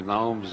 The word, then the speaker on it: gnomes: As far as I know, he's the only one who ever pronounced the G in that word. He always pronounced the gnomes of Zurich, by which he meant the big Swiss banks.